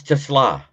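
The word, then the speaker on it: TeSlaa: What? It's Tesla.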